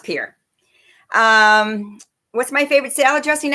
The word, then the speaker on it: Pierre: He says it's pronounced Pierre.